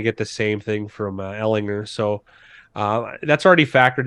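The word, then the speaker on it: Ehlinger: how do you say his last name Ellinger Ellinger yeah is he he should be an upgrade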